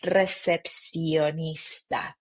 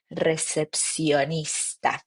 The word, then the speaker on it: recepcionista: We don't have sounds like sh in Spanish, right? So it's like very soft, recepcionista, recepcionista.